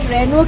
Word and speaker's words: Renault: एक लास्ट जो खबर है, लास्ट इन्फॉर्मेशन है, हम लोग जिसको अभी तक रेनॉल्ट बोलते थे उसको रेनो बोला जाता है। मुझे नहीं पता ये फिरंगी नाम ऐसे क्यों रखे जाते हैं, इसको रेनो प्रोनाउंस किया जाता है, रेनॉल्ट नहीं किया जाता।